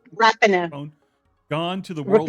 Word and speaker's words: Rapinoe: Okay, how many times has Megan Rapone, is that right? Is that pronounce her name? Rapinoe.